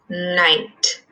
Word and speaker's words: knight: wants to be a knight that word night is a silent K night okay so we have